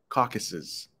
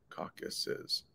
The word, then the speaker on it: Caucasus: hey, this is pronounced Caucasus. Caucasus. 3 syllables. Careful how you say that. Caucasus.